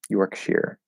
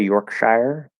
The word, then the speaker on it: Yorkshire: Yorkshire. I've heard it pronounced Yorkshire sometimes. Usually, I will either say Yorkshire because I see Shire, or Yorkshire with an Those are the two ways I usually say it, whichever one comes out. But yeah, I've heard Yorkshire also.